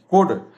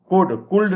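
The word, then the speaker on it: could: कुड कुल्ड नहीं पढ़ते हैं, एल को नहीं बोलते हैं.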